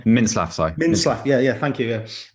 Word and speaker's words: Mintzlaff: But he's got a good relationship with Oliver Mitzlaff. What's the CEO's name? I keep on getting his surname wrong. Mintzlaff, Mintzlaff, yeah, thank you.